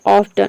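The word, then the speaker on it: often: T silent रहता है, केवल सी एच को प्रोनाउंस करते हैं। जैसे कि देखिए यहाँ पे है ऑफ्टन।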